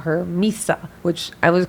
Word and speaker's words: Mhysa: Daenerys is accepted by the people, and this is why they call her Mhysa, which I was correct in pronouncing it.